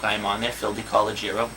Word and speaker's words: DeCologero: am on there, Phil DeCologero, DeCologero. So thank you, Tom, for pronouncing it correctly this entire time, because not everyone can.